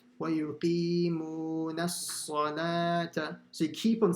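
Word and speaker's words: الصلاة: Then the lam has a standing fatha and you stretch it. And the waw is silent. Salata.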